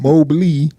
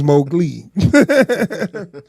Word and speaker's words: Mowgli: I've been saying his name wrong for a long time. I've been calling him Mowgli, but it's Mowgli.